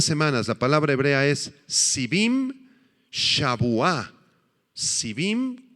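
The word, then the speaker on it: שבעים: la palabra hebrea es civim con i latina las dos y acento en la segunda ahí civim y en el idioma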